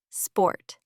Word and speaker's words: sport: The sound becomes or like in sport, not sport, but sport.